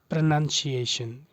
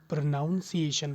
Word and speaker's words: प्रोनंसिएशन: चलिए आज हम सीखेंगे लर्न द करेक्ट प्रोनंसिएशन ठीक है कई लोग प्रोनाउंस एशन बोलते हैं एक्चुअली प्रोनाउंस एशन तो बोल